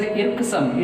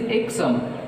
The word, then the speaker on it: irksome: And icksome, we should not pronounce it as irksome, it is icksome, R is silented, so that stress is on first syllable.